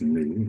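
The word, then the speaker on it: nu: The frequency or new is pronounced new. It's a Greek letter.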